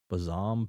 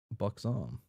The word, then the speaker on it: buxom: He freezes on the spot, an animal in predatorial headlights of this Bazam businesswoman? Buxom? What? Huh. Buxom. Okay. That's how you pronounce that word.